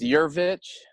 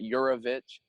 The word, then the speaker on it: Yurvich: It's Yurvich. Most people pronounce it Yurovich, so I like to get the joke out of the way. It's kind of like you're a bitch, but Yurovich.